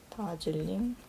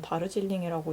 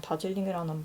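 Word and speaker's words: Darjeeling: 아니라고 생각합니다 그래서 보통 다질링 맞는 맞는 단어는 정확히 맞는 단어는 다르질링이라고 읽는게 맞는데요 이게 스펠링이 이렇게 되니까 저는 그냥 다즐링이는 발음이 마음에 들어서 제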